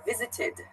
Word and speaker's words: visited: the verb visited yeah visited so it has an ID sort of pronunciation of the unvisited another